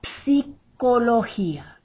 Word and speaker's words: psicología: La psicología. Psi, psi, psi. We say the P, the S, and the I all together.